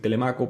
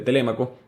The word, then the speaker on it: Telémaco: lo voy a decir telemaco porque así lo aprendí en Maracaibo se pronuncia así pero se pronuncia correctamente telémaco su hijo es suficientemente